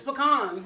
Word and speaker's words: pecan: I don't say pecan. It's pecan. But anyway. Let me ask my North Carolina family. Okay, how y'all pronounce it? Y'all can put the A in or the O.